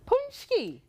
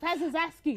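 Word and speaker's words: pączki: Pezaski. Pezaski. I think I pronounced it four or five different ways. But you've now you know it's punchki.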